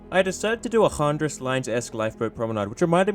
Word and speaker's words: Chandris: And just to clarify any confusion, it's spelt Chandris Lines, but it's pronounced Handris Line, as it's Greek.